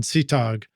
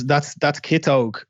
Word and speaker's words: Kitog: How about stop me if I'm pronouncing it wrong, Sitog. That's Kitog. Kitog.